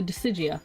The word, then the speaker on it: Disgaea: But, the Decigia, however you guys like to say it, because everyone I talk to pronounces it differently. I like to call it Disgaea. Because, you know, it's gay.